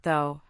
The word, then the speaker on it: though: It is silent in words like though, through and light.